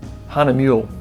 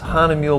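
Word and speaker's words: Hahnemühle: and I'm printing that on honey mule there's any pronounced Hannah mule paper honey milk her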